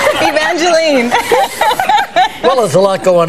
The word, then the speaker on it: Evangeline: think it's you know I think Evangeline is more a Canadian expression or or or um pronunciation of the name because here everyone wants to call me Evangeline is that right and